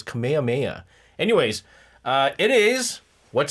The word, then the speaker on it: Kamehameha: Dragon Ball Z Kamehaha Kamehameha Kameha Kamehaha. No, that's not how you say it. It's Kamehameha.